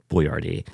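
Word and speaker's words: Boiardi: Mr buard he had the Italian name and then he he had the foresight to know that Americans were really stupid so then he had to respell it basically phonetically cuz he had the foresight to say Americans are G to get progressively stup stupider so I'll just spell it out for them since they can't pronounce words like boardi I I watched that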